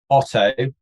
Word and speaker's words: Oto: ways actually the easiest way is to search auto in the apple app store or the google